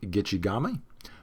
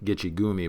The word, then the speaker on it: Gitchigami: which it's not Lake Gitchigumi, by the way. That's a mispronunciation. You know, it's in the song, right? It's in the song about the Edmund Fitzgerald, but that's actually a mispronunciation. It's not Gitchigumi.